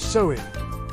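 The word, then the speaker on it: Samhain: It ended on October 31st with a massive festival called Sain pronounced sewing.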